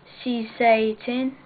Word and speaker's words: Saesee Tiin: next in my last review I'll be doing CC 10 that's how you pronounce it I'll just show the packaging this